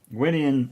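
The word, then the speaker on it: Gwydion: can correct me but uh Gyan excuse me wian is it's spelled g w y d i o n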